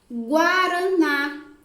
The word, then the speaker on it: Guaraná: Guaraná. Guá. Sai o som da letra G, sai o som da letra U e sai o som da letra A.